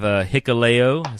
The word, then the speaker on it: Hikuleo: I have Hikuleo. See, I said it right that time. Of course. He had to spell it phonetically.